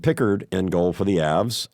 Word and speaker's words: Pickard: so I'm expecting Pickard now that I know how to say his named picker in goal for the